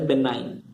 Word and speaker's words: benign: This is pronounced as benign.